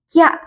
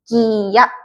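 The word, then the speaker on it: きゃ: Nah, kalau kayak gini dibacanya kya, digabung. Kya, k, y, a, kya. Beda kalau nulis ya-nya besar, ini dibacanya dipisah, jadinya kiya.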